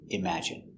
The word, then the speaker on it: imagine: at the pronunciation pronunciation imagine M im a im J J strong sound J imag I imag imagine imagine stress on the second syllable imagine imagine imagine imagine